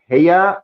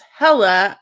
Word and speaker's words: hella: Is it heya or hella? It's hella, and it means a lot.